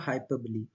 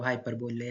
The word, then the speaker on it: hyperbole: So next is your हाइपरबोली, इसको बोलो हाइपरबोले, हाइपरबोले पढ़ते हैं but right pronunciation is हाइपरबोली।